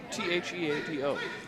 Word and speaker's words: Theado: Theado. Theado? Okay, Yeah, sure. Cool. Actually, Bobbie, Todd, how do you pronounce last name? Theado.